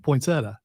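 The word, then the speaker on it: poinsettia: say I've never heard it's a pointsetta that's how I've heard it said without the accent poinsetta not the sieta thing also there's not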